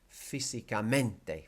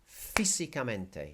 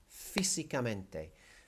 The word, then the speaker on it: físicamente: Okay, so here, that I accent tells you that the word is not going to be físicamente, for example. The A accent tells you this is not carácter. Okay, it's telling you that this word is físicamente. So you hit that first I, físicamente.